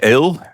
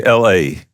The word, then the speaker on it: Ale: That's quite different because sometimes they call me Ale, like the English beer. Yeah. But I like the most that they call me LA.